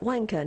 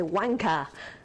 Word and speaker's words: wanker: and i was like one kern he's like no you're not saying it right you gotta say wanker and i was like wanker and he was like yeah that's better and i'm like okay